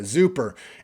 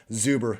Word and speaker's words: Zuber: at wide receiver isaiah zuper anthony ratliff williams tia redding and tyler paulka all 77 routes are higher but it was zuber excuse me on the super mispronunciation zubro is out there